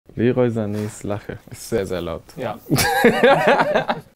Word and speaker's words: Leroy Sané: How do you pronounce Leroy Sané? I just said it: "Leroy Sané".